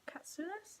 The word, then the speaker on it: Katsoulis: Reading All Rights Reserved, Gregory Scott Katsoulis, that's how you pronounce it.